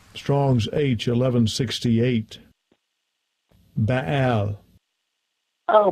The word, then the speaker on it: Baal: I don't think I even pronounce it right. Strong's H1168. Baal. Oh, Baal.